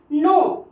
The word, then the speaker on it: know: यहाँ पे के जो होता है वो साइलेंट हो जाता है, मैंने आपको जब ABCD पढ़ा रही थी उसमें मैंने बताया हुआ है कि जब के साथ एन आता है तो हमेशा अक्षर करके और डब्ल्यू बाद में रहेगा तो वो साइलेंट हो जाएगा।